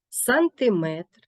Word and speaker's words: сантиметр: квитки загадки але вірші у словах іншомовного походження компонент метри є наголошеним дециметр сантиметр кілометрів проте у назвах прикладів